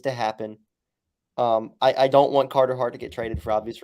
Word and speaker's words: Carter Hart: But trading Cahtah might just be like Carter Hart. Sorry. I literally never say his name right. It's Carter Hart.